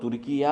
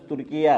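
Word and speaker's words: Türkiye: तुर्की था वह अब तुर्किया हो गया पता है ना आपको इन्होंने ऑफिशियल गवर्नमेंट ने नाम तब्दील कर दिया तर्की का अब तरकी का नाम तरकी नहीं है सही तलफ्फुज तुर्किया है तो यह वितर भी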